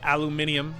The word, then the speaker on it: aluminium: There's aluminum. or aluminium, as the British say, which is like such a sophisticated and overly complicated way of saying aluminum.